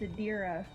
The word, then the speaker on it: Adira: You guys keep adding in an L where there is not. Well, how you properly say it? It's Adira.